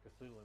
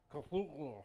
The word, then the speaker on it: Cthulhu: I think they said that like I've read it on Wikipedia that the way to pronounce it is actually more like a gurgling sound, like Cthulhu or something like that.